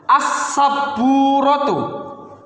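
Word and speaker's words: السبورة: Contoh lagi, misalnya as-saburatu. As-saburatu. Ini merupakan alif lam syamsiah. Walaupun secara dibacanya tidak terbaca, tetapi harus tetap ditulis.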